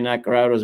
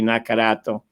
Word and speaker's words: Naccarato: italian and say nacarado's mispronouncing it you're right it's mike de lucia but we pronounced it here the lucci the same thing with my name nacarado it's really nakarato so if you could